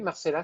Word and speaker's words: Marcella: C'est Marcella. Je prononce son nom. Oui, Marcella, c'est bien.